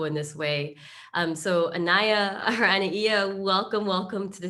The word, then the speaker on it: Anaiya: okay okay i mean usually it's anaya but i really love your version okay i'm in hawaii so we pronounce all of the vowels like anaia you know well okay